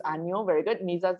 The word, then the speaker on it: 아니요: It's 아니요.